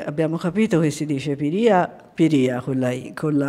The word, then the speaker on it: Piria: soprattutto Piria, che abbiamo capito che si dice Piria con l'accento sulla I, perché ieri ci siamo telefonati